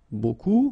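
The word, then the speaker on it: beaucoup: you want to use buku means a lot of it look it looks a bit strange like that remember you don't pronounce the final p okay and then you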